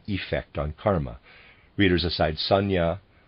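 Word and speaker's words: sanjna: on Karma readers aside Sanya I'm pronouncing it that way is spelled s-a-n-j-n-a my apologies if I'm still pronouncing that wrong end of readers aside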